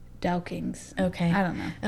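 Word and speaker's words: douking: dukings or duckings dukings it's it's like this the scottish pronunciation it's d-o-u-k-i-n-g dow kings okay i don't know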